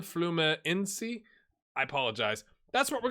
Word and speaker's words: Fluminense: And then FLU, I'm almost certain, is Fluminense. Someone said to skip the N, the first N, Fluminense.